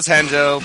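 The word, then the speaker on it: Renzo: I'm going with the one that starts with R but is pronounced like an H. Okay. Hose. So it was Henzo.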